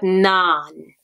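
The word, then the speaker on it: நான்: So try pronouncing the word naan.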